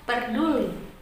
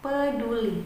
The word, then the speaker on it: peduli: koreksinya masih ada beberapa kata yang salah dalam pengucapannya seperti katak peduli Hai Bukan dibaca perduli kata-kata yang tepat adalah peduli bersama Hai berikutnya Kalian